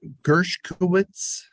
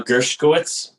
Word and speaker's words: Gershkowitz: drive carefully thank you gershowitz girchowitz that's me your honor okay how do you say your name uh gershkowitz oh I was pretty close we're on it okay